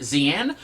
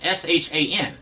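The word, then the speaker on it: Xi'an: am when I was a kid I always pronounced it zian uh because there was also a character in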